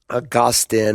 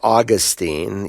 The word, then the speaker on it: Augustine: this time largely through Augustine and Calvin was a Ardent follower of Augustin or Austine you can pronounce it either way I guess it depends on which uh salable you put the empasis you know as we